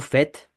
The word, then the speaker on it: fait: We have a T, but the pronunciation remains the same.